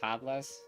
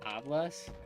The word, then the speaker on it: hablas: the h anyways yeah the h is definitely very silent yeah i learned that